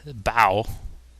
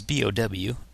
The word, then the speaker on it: Bow: I've always said Bow. It's B-O-W. And I've always thought Bow, because like his dog, Bow Wow kind of thing.